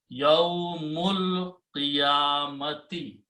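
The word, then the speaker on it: يوم القيامة: Now you read them together and you do not pronounce this alif, it becomes hamzatul wasl. And now it becomes yawmul, mim combines with the lam, yawmul qiyamati, a day of resurrection, a day of judgment.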